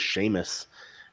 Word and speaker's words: Seamus: His name was Seamus, and you would look at his name and you'd be like, yeah, no, that's not Seamus. Does not phonetically sound.